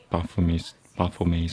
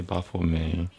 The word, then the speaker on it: Baphomet: What I just told you is one translation or translation of Baphomet's arrival. That's a proper way to say Baphomet. It's not Baphomet. That's like punching Baphomet in the gut. It's Baphomet, like the French.